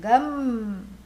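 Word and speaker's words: गं: he gives baby lessons first say G then add a then say G and then say m gum and the student says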